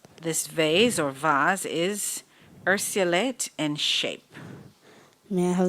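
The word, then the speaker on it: urceolate: This vase or vase is ursulate in shape. May I have the language of origin? Latin. Am I pronouncing the word correctly?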